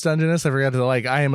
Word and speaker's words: Dungeness: Dungeness? I say Dungeness. I think both are acceptable.